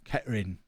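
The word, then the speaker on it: Kettering: Thought you were not supposed to pronounce the Tur in Ketaring. Well, I'm not from Ketaring, so I'll pronounce it the way normal humans pronounce it. I think in Ketaring it is Ketarine or some Ketin or something like that, but I'm not from Ketering, so I'll say Ketering.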